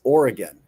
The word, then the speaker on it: Oregon: Number three on the list was is Oregon. It's Oregon. Oregon. Oregon. Not Oregon.